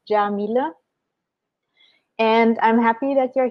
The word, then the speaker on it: Yamile Yemoonyah: know who you are my name is Jamila that's how how you pronounce it I know people always ask me it's Jamila and I'm happy that